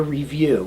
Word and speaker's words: REEVUE: It's called a review, and it's spelled REEVUE.